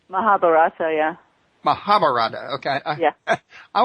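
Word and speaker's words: Mahabharata: the rig vas were created or the uh mararaba if I'm pronouncing it correctly mahabarata yeah mahabarata okay yeah I wasn't far off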